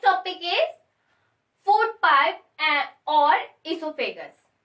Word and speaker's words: oesophagus: इसको हम इसोफेगस बोलते हैं. ओइसोफेगस नहीं बोला जाता है. आमतौर पे लोग ओइसोफेगस बोलते हैं, बट ये इसोफेगस. क्या उच्चारण करेंगे? इसोफेगस.